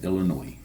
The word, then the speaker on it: Illinois: He was executed in 1994 in Illinois, or Illinois. I don't know which one it is. I think it's Illinois. I I think the S is silent.